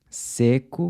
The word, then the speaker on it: seco: Seco means dry, while seco means I dry.